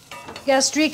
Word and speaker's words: gastrique: add any more liquid gastrique is a snooty term but it kind of sounds like that flavor you gastrique gastrique it's sweet and vinegar gastrique it's finished works phonetically but don't use it because